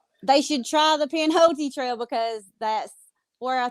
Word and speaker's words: Pinhoti: Can you spell it for me? Yeah, it's Pinhote. It's Pinhoti.